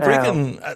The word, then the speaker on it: Brecon: Yes, pronounced correctly as well, Scott. Thank you. Yeah. City of Brecon, they've had such a strong season this year.